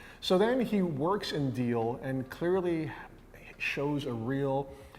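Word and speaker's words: Diehl: he joins a company called um deal yes um D I E H oh so that's how you pronounce that deal I was still wondering how do I pronounce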